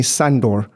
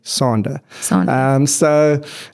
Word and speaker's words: Sander: career in South Africa, he literally called me Sandor, Sundoor, whereas my name, as my mother and father would call me, Sander.